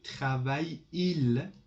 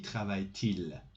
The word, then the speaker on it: travaille-t-il: So instead of avec qui travaille-il, this is difficult, you must put a T between them to make the pronunciation easier. So avec qui travaille-t-il?